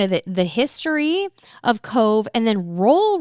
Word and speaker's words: Cobh: The BH is how we pronounce our V.